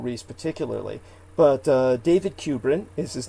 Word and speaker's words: Kubrin: particularly but uh david kubrin is his name and his surname is spelled k-u-b-r-i-n kubrin and like stanley kubrick except cubrin and uh he's jewish